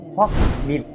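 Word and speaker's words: فاصبر: प्यारे बच्चों, हमारी किताब अहकाम कुरानिया उसका सबसे पहला हुक्म है फस्बिर। सबसे पहले इसके प्रोनाउंसिएशन को अच्छे से समझ लें।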